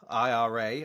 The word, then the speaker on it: IRA: uh you direct Ira Ira I've now learned is the correct way to say that even though I have